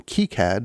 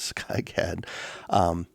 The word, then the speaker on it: KiCad: integrated circuits and printed circuit boards and then keycad which i have been pronouncing wrong forever as sky cad this is a specific suite of software that's